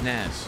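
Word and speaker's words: Nas: That's pronounced Naz Pops? No, this one's Naz.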